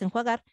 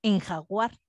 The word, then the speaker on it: enjuagar: dicen por ejemplo enjuagar la palabra es enjuagar y en vez de eso dicen en jaguar los hay gente que